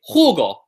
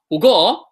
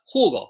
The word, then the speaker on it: jugo: Spanish, generally speaking, it falls in the second last syllable. So if I have a word like jugo, which is juice, jugo, 2 syllables, right?